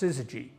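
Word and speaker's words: syzygy: of a factor called sizzagy. Sizzagy sysz g y pronounced sizy. This term describes a celestial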